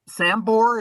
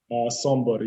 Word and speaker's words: Sombor: And that's Sambor, is that correct? Sombor, yeah.